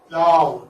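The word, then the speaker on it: plough: See now GH. GH is silent. It doesn't have any. It doesn't have any existence here in the transcription or in the pronunciation of that. Plow. It's just plow.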